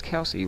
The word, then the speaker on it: Kelce: Notice how Travis Kelce rhymes with Elvis Presley, the king of pop.